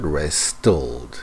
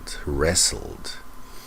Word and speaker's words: wrestled: So as you can see, although I had wrestled with Now, in the word wrestle, there is a T, but the T is silent. It's not wrestled, it's just wrestled.